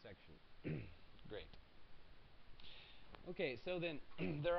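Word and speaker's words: §: Okay, so just a matter of note, this little S with a circle in it, that's pronounced section.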